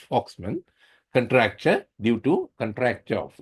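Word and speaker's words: Volkmann: Voxman some people pronounce it at Voxman. actually it is pronounced foxman contraure due to contraure of eskeemic contraure of the flexor compartment.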